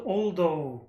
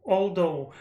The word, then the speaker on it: although: again he said al aldo although but i always speak although although but he said aldo d like th sound he say it like d i want to release him